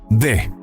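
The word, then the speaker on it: the: y como puedes notar, la palabra de tiene 2 formas de pronunciación, dependiendo de la siguiente palabra, es decir, si la palabra que sigue comienza con un sonido de vocal, se pronuncia como di. Si la siguiente palabra comienza con una consonante, se pronuncia como de.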